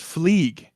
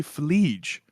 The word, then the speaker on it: Phleeg: I thought your name was pronounced Jezerice, and my name is Mm. pronounced Fleeg. But you just said Gezerice, and you called me Fleege.